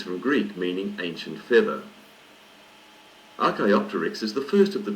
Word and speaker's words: Archaeopteryx: pterosaurs are alike page 16 Archaeopteryx Archaeopteryx is pronounced RK optics it's name is from Greek meaning ancient feather Archaeopteryx is the first of the true birds dinosaur